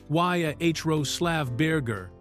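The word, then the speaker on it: Jaroslav Berger: So they hired Jeruslav Ber pronounced Yahrol Slav Burgger who served as the ballet chief of Switzerland's prestigious Burn State Theater.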